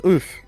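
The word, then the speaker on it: œuf: favor and look up what egg is in french it's oof right yeah but but look how it's spelled o u e u f in it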